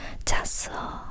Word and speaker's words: 잤어: It's written 잤어, but when you actually speak, it's pronounced as 잤어, 잤어.